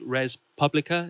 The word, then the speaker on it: Res Publica: There's a fantastic documentary about the band's recent album, which is called Res Publica. Is my pronouncing that correctly?